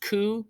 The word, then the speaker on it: coup: carried out a coup this c-o-u-p is pronounced ku c-o-o this berlin airlift